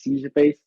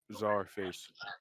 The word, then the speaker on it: Czarface: the time he dropped like Scarface, not Scarface, Seizure Face, and Starface. yeah, my okay, that's how you pronounce it, Yeah. Scarface. Czarface.